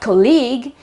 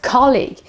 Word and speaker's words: colleague: profile and another one colleague colleague it's not not colleague but it is colleague this is a very